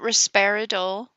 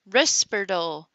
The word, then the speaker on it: Risperdal: So Smiley has known people that take lithium, and to use her pronunciation, not the subtitles, but she said Risperdal. Not Risperidol, Risperdal.